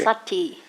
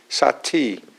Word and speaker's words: sati: Sate, is it sate or sake? Sati. Sati. Okay.